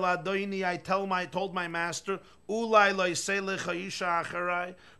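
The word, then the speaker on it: אולי: Ulai with a vav can only be pronounced one way. Ulai, which means maybe.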